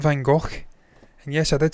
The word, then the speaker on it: van Gogh: The Dutch are like us Scots. They pronounce certain words like that's how they say it. And no, I wasn't gargling there. That's how they pronounce it.